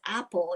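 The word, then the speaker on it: Apol: My name is Apple." And now it's not spelled like apple, but it's pronounced like apple.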